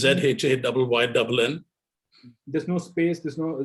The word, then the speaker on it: Zhayynn: It's ZHAYYNN. There's no space, there's no dot, there's no hyphen, nothing, right? No. Shane nothing. It's one word. Zhayynn James Photography. Yeah. Don't pronounce his name as SHANE. It's ZHAYYNN.